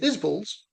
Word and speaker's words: Isbell: You thought it was bell as well, didn't you? Well, so did I. But it's not. It's is bull.